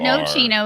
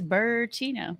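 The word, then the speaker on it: Bourchino: It's not no chino, it's Burchino. That's right. Yeah. It's no chino. It's like bourbon.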